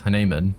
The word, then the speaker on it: Hanan: he finally pronounced that Hanan I'm not going to remember that but there it is Hanan is how it's supposed to be pronounced apparently I have no more